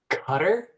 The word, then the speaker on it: Qatar: we're talking about the Qatari government. Qatar. Well, yeah. Yes. So you just take the eye off. That's how you pronounce it. Some people call it cutter.